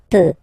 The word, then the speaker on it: peux: Final X not pronounced here, okay? So you get X, but you don't pronounce it, so basically you get the sound peu, je peux, okay, so I can, je peux, okay? Then tu peux, same pronunciation and same spelling or writing, okay? P-E-U-X, okay, don't pronounce the final X.